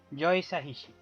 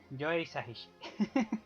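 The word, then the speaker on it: Joe Hisaishi: no me acuerdo nunca, lo que tengo apuntado es cómo se pronuncia, Joe Sahishi, Joe Sahishi, porque yo lo hubiese llamado Joe, como a mi amigo Joe.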